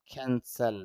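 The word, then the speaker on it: cancel: স এ সর পরে a sound নাই এজন্য এ সাউন্ডটা আসবে না তারপরে ল তাহলে উচ্চারণটা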